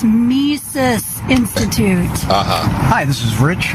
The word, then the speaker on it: Mises: you why you said it right you said mises i thought i did yeah this is the mandela effect hey what's wrong with you i said mises i don't know what everybody else is thinking